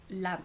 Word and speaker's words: lam: Donc, le chakra racine va être associé à la syllabe lame. Donc, lame, L-A-M.